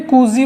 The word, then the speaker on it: Cauchy: अब इसके बाद अपना एक टेस्ट और डालेंगे हम, कूसी टेस्ट।